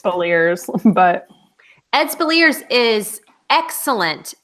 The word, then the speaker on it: Speleers: Speleers. Speleers, but Ed Speleers is excellent as Yeah.